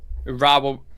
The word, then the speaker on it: Urawa: Can you imagine Roy Hodgson trying to pronounce that? Okay, it's I've just put it down, so it's Urawa Reds. Urawa Reds. Urawa.